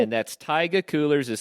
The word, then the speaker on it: taiga: work for taiga coolers that's right and that's taiga coolers is spelled ta IgA and I'm always jealous when